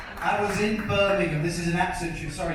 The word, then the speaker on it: Birmingham: you seen me says I was in Birmingham this is an absolutely sorry Captain true story